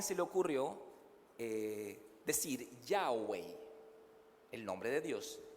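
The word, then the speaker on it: YHWH: porque no tiene vocales yao yao así como y h w h como que el sonido de la respiración dicen algunos pero a alguien se le ocurrió es decir yao wei el nombre de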